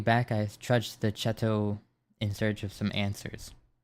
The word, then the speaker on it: chateau: How do you pronounce this word? Hold on. I'm doing some research. Chateau. Chateau. I was like... close.